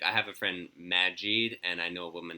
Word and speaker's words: Majid: I have a friend Majid, and I know a woman named Sahad. They pronounce those names emphasize the first syllable.